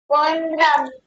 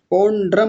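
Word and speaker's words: पौण्ड्रम: इस शब्द को बोलिए पंड्रम पोंड्रम नहीं पंड्रम औ पंड्रम ऐसा बोलिए पंड्रम फिर से बोलिए पोंड्रम पंड्रम हां जी ठीक है बहुत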